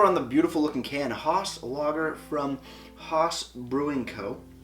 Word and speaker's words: Haus: And I think it's pronounced Haus, because their slogan is from ours to yours. They're saying from our house to your house to yours.